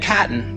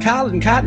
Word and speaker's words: chitin: world are cellulose, because it doesn't decay, and chitin. Chitin is spelled C-H-I-T-I-N.